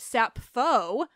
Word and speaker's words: Sappho: say so number one I should have been pronouncing it sappho for this response because you're Greek and I know that in modern Greek actually in ancient Greek too it's up foe so now because of